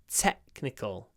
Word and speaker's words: technical: to complete this task technical Tech remember it's a c like in technology technology technical Tech and the is clipped before the C Sound te technical we La